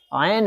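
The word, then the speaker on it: عين: इसका उच्चारण एन नहीं है, एन तो हम कह देते हैं वैसे ही आसानी के तौर पर, एन नहीं है, आयन है, आयन आयन।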